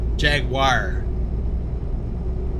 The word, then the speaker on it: Jaguar: In the US, we either we either call it a Jag or Jaguar. I know we not we don't pronounce it correctly. Jaguar. So, the second part of the word sounds more like wire.